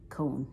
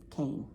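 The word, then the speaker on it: Koehn: called cane manufacturing and it's not spelled like cane it's spelled like k-o-e-h-n which i would almost say cone but it's cane and i thought they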